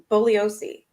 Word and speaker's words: Bugliosi: Bugliosi. Okay, Bugliosi.